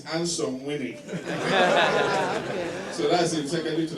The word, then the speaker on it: Angsomwine: But if you pronounce it as an Englishman, you say "Ansome Wine." Because it's spelled ANGSOMWINE. How would you spell it? But Dagatis will tell you it's Ansome Winnie.